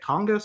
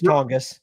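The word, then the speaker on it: Tonges: The hell that Jake is it Jake Tongus?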